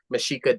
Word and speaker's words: Mexica: of all stems from mishika dancers if you spell out mishika which I spell it as m x IA but then